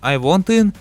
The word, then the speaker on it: I Want In: Скорее всего, самое интересное это то, что разногласие с разработчиком I Want In, оказывается вот так произносится это название, является каким-то плохим человеком, совершивший какое-то преступление.